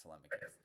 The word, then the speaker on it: Telemachus: I do believe it's tmicus.